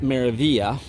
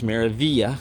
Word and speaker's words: Meraviglia: That is how you pronounce it, Meraviglia. It's not Meraviglia, it's Meraviglia.